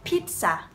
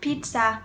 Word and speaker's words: pizza: So the first word is pizza. Pizza. Từ này hầu như là 99% học sinh của mình đều phát âm sai, không phải là pizza.